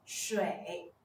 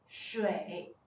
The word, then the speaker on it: 水: 水的拼音是水，水，它的声母是诗，韵母是微，声调是第三声。